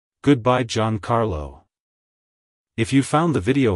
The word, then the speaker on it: Giancarlo: meaning it's pronounced as John Carlo John Carlo John Carlo to pronounce it correctly emphasize the e e sound in G and the ahr sound in car like hello John Carlo goodbye John Carlo if you found the